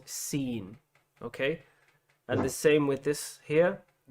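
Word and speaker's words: سين: memorize this symbol and remember that it's called seen, okay?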